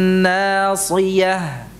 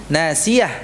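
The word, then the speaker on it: ناصية: Bin nasiyah. Yang terbuka. Kemudian sodnya jangan berubah menjadi sin. Nasiyah, enggak. Itu akan berubah maknanya. Ya. Nasiyah. Nanya tipis. Sodnya tebal. Si.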